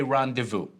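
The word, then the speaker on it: rendezvous: So, um, this is this is a common thing in English whenever a word that has that that comes from French originally, we use the French pronunciation.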